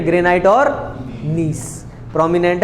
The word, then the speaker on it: gneiss: क्या देगा, ग्रेनाइट और नीस। नीस की स्पेलिंग बड़े अच्छे से लिखिएगा, GNEISS, नीस की स्पेलिंग है ये, GNEISS, नीस, granite and नीस।